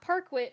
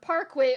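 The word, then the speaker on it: parquet: It's not parkquit. I know it's not. I know it's not. Uh whatever. Parkit, which exactly rhymes with khaki.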